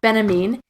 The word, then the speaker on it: Benjamin: Again, I'm not getting the first names right, but and his last name is pronounced Benjamin, and he talks about art in the age of mechanical reproduction.